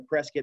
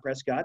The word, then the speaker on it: Prescott: we're up in Prescott you notice I'm pronouncing a press get map Prescott that's how we say it here locally it's a beautiful part